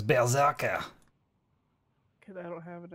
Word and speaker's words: berserker: Why does everybody say it wrong? It's berserker.